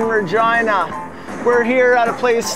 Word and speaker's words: Regina: triple F we're in the city that rhymes with fun were in Regina we're here out of